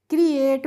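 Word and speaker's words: create: तो इसको हम पढ़ेंगे क्रिएट। मैंने आपको पहले भी रूल बताया है, ए टी ई का प्रोनाउंसिएशन होता है एट करके, ठीक है।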